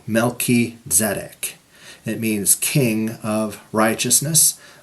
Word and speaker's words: Melchizedek: Okay, I know it's usually said Melchizedek. I'm not trying to be pedantic here, but I pronounce it this way so you can hear the Hebrew. Melchizedek.